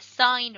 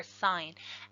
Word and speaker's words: sine: and they are the sine ratio so sometimes we mispronounced sin because it's SI n but that's just short for sine as I and so